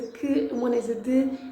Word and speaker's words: de: The most correct is de, but you will hear a lot of us saying que, okay? And you might not even hear the de because it's hardly pronounced. The e's at the end of words are not pronounced, and the de is it's just an added bonus there, almost like a bridge in between words.